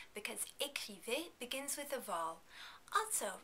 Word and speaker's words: écrivez: In the vous form, you also need to pronounce the final S because écrivez begins with a vowel. Also, remember that the EZ combination is pronounced as A. Vous écrivez.